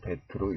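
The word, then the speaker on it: בית: 이응, 한글의 이응이나 또는 종종 묵음이 또 합니다. 그럼 두 번째로는요, 베트라고 하는 단어인데 읽을 때는 베트로 읽고요.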